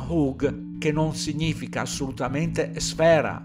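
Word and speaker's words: חוג: di come hanno tradotto la parola «chug», si pronuncia «hug», che non significa assolutamente sfera, ma cerchio.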